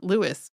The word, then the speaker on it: Louis: one time calling him Louie but it's there seems to be just a whole lack of consistency of the pronunciation uh other than he himself saying Lewis pretty much all the time um the the airport